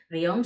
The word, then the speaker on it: guion: Le quitó la tilde a truán y a guión, que igualmente guión son cinco letras, pero una sola sílaba porque hay un diptongo.